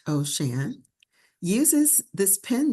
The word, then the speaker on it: O'Shan: Ocean, pronounced Ocean, uses this pen name to reflect her deep connection with and appreciation for water moving upon the earth.